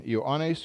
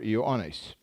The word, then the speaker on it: Ioannes: Ioannes or Ioannes. Pronounced the same, spelled differently.